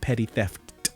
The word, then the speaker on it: Petty Theft: That is how it's pronounced. 2 P's at the beginning, 2 T's at the end. Petty Theft.